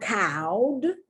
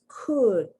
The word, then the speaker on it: could: look at the pronunciation it's not cowed it's not cold it's could uh the short u sound could would very important auxiliaries